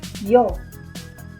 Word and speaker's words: y: Yo. Yo. Tú is you. Yo y tú. I and you. The letter Y right here means and, but it's pronounced as I in Spanish.